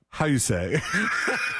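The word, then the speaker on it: Houssaye: How you say? All right, okay. You're messing with me. You're screwing dude, with me. Listen, H-O-U-S-S-A-Y... E apostrophe S. It sounds it's like how you say it.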